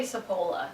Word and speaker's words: Cipolla: I just say Cipolla. Cipolla. Even though it's the CH, because Yeah.